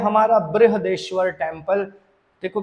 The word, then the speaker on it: बृहदेश्वर: है इसके बाद करते हैं यह है हमारा बृहदेश्वर टेंपल देखो बृहदेश्वर में आई भी आता है हमारे यहां गुजरात